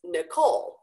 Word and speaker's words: Nicole: But it's Nicole, and it's Nicole, stress on the second part, because my name is of French origin. It came from the French language. And so French tends to stress the end points, right? Nicole, rather than the beginning of the first syllable.